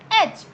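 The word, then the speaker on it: edge: तो वो होता है एच. एच एच क्या होता है, किनारा, कोई भी किनारा, तो इसमें भी डी साइलेंट रहेगा आपका.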